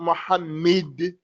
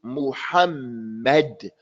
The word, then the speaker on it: Muhammad: pronounce it correctly and our Prophet Muhammad is not Muhammad is Muhammed mu handmade other names